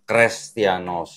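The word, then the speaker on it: Χρηστιανός: tau ini adalah namanya jadi ini bacanya kalau nggak dihapus harusnya kres bukan cristianos nah ini kelihatan kan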